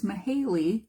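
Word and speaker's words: Mihaly: state of flow and his name I will try to pronounce for you. It's Mahaley. I think that that's his the way that you pronounce his first name.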